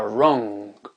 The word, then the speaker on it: wrong: pas c'est pas possible le W ne se prononce pas wrong euh le poignet en